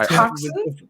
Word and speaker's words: coxswain: Wait, is that how you pronounce coxswain? Yeah. I feel like I've only ever seen that in print. It's coxswain. It's pronounced coxswain.